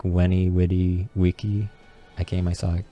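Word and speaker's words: vici: That's why I said Wenny, Witty, Wiki, and C's are pronounced as K's.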